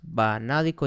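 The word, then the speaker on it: vanádico: Y aquí nada más banádico y va acento en la A.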